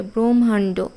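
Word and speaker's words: ব্রহ্মাণ্ড: ব্রাহ্মণ এখানে এম এইচ ও দিয়ে লিখতে হবে ব্রহ্মান্ড এম এইচ ও এর উচ্চারণ আমরা যদিও ভুল করে ব্রাহ্মণ ব্রহ্মান্ড এরকম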